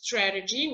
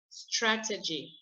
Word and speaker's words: strategy: i say it is strategy now we will see what google says okay google says you put the accent on the first one and it says tr let's hear it strategy and then if i